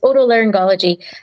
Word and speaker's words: otolaryngology: It's otolaryngology. I think we're commonly known as ear, nose, and throat surgeons.